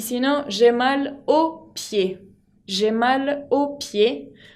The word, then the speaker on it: aux: Y si no, j'ai mal au pied. J'ai mal au pied. Como los pies son en plural, tengo que usar el artículo o con la X final que no se pronuncia.